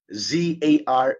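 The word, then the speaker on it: tsar: two spelling no si z a r at saka t s a r t z a r the pronunciation is zar no the first letter is silent ang pronunciation niyan silently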